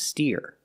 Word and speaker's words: steer: the soup right now this word is pronounced steer so if you say steer I'll think of this word and this word has